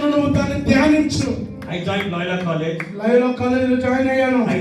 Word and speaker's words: Loyola College: I told Laila College. నేను అన్నాను Laila కాలేజ్ అన్నాను. But the real name is Loyola College.